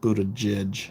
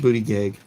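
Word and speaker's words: Buttigieg: this then I was comparing it to go to judge which that's not how you actually pronounce that name so some I don't know if he changed it or is someone down his lineage changed it or what but it's pronounced booty gig and I was just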